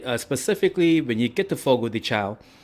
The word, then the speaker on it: Fogo de Chão: it is actually pronounced Fogo de Chão. I'm like, what? How is it pronounced that? But that's how they do it in Brazil, right?